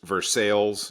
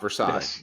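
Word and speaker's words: Versailles: number of years and there's versales you know not versailes don't say sort of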